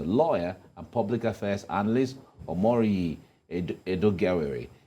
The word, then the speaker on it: Omoruyi Edoigiawerie: So joining us in the studios to make sense of all of this is a lawyer and public affairs analyst, Omoruyi Edoigiawerie.